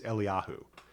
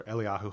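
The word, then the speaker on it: אליהו: the the you know contemporary Hebrew pronunciation of Elijah is Eliyahu. Or so Eliyahu Hanavi and then the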